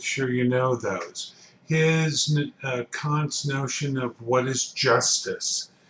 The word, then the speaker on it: Kant: kant and once again you pronounce his name kant not can't and um i i